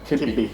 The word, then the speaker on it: kibbi: Kibbi. So I'm pronouncing kibbi in the Maslawi dialect, and I have not forgotten about making a video Iraqi Baghdadi versus Maslawi dialect.